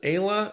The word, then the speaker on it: Aella: Is, is it two syllables? Ayah, or is it three syllables? Aella. It's Aya. A lot of people get her name wrong.